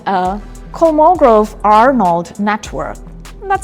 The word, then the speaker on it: Kolmogorov-Arnold: A couple of a couple of years back a new design showed up called a Kolmogorov-Arnold network. That's how it's pronounced.